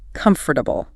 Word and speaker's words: comfortable: It looks like four, sounds like three.